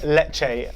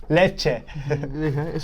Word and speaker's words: Lecce: Syria against Juventus against Lecce I thought the stadium select a stadium itching how do you say it let you let it like some dulce de leche so we're going for Juventus